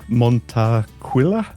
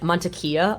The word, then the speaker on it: Montaquila: I'm hoping I'm going to pronounce this correctly. Montacquila. Nailed it. That was very good. Yeah. Montequila. I default say Montila like the alcohol but I don't I don't know why I get Montia a lot too which apparently is like close